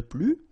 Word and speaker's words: plus: the masculine form, le plus, the feminine form, la plus, and the plural form, les plus. Okay, so keep in mind that I don't pronounce this final S here, so we get le plus, la plus, les plus.